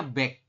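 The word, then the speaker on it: 백: 100 ini bunyinya back. Back ini sama dengan bilangan Sino Korea.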